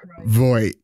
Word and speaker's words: Voigt: Exploit, no, Deloitte, Detroit, Voigt.